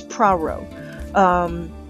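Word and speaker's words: Poirot: Okay, so I looked it up and several sources from this story is the detective's name is Praro. That's gonna be tricky to say, but it's Praro.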